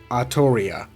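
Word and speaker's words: Artoria: And that's actually how you pronounce her name in Japanese. Every time they say her name in any Japanese media, you can clearly hear the voice actor say Arttoria.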